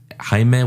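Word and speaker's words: Xaime: think Hae is on Hae is on Instagram Hime which is spelled x a i m e h and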